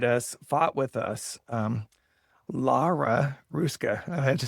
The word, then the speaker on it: Lara Hruska: So today I'm very honored to have the attorney, welcome the attorney who stood behi beside us, fought with us, um, Lara Ruska.